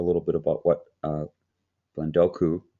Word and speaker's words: Blendoku: bit about what uh blendoku did i say it right it's like sudoku the number game we ever played that